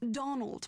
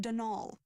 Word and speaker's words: Donal: Not Donald, mind you. There's no D at the end, so it's pronounced Denal.